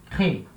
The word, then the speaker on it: crées: Mas eu falo tu crées. Então, repara, a última sílaba é fraca, então ela não vai aparecer. Tu crées.